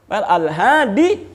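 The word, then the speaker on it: الهادي: Itu susah untuk diucapkan, maka tidak dibaca baris akhirnya.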